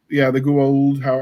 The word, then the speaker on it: Goa'uld: The loss of self when the Goa'uld, the Goa'uld, I think is how they pronounced it.